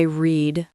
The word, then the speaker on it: read: Today I read a book, but for the past, yesterday I read a book. It sounds like the color red.